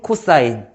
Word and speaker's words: cos: 그다음에 두 번째 cos라고 쓰고 코사인이라고 읽을 거예요. 사인 코사인 됐어.